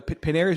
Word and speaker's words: Panerai: Hey, so it's a Paneria or is that how you say it? Panera. Panera. There you go. Panera is where you go get a a bagel.